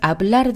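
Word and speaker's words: hablar: 즉 R로 끝나기 때문에 영어로의 R로 끝났기 때문에 맨 뒤에 모음을 올려서 아블라르, 아블라르 이렇게 된다는 거죠.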